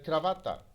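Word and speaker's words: cravatta: هي كلمة كرافات هي بالفرنسية برضه كرافات، بس هو النطق اللي موجود في مصر هو أقرب للنطق الإيطالي مش الفرنسي، لأن الفرنسي كرافات لكن بالإيطالي كرافاتا. فهي طبعا واضح إنها أقرب للنطق الإيطالي مش النطق الفرنسي.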